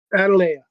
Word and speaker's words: Adalea: Atil. How do I pronounce it? I don't know. Or Adelia? Adalea. That's it.